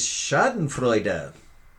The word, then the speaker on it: Schadenfreude: a little bit offended okay number 12 is schadenfreude noun do i get a medal for pronouncing these correctly no i don't but that